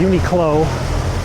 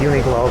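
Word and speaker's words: Uniqlo: uni glow up here a uni clo however you guys pronounce it I always say uni glow cuz it sounds cooler though I know it's a Q and not a g look this unique low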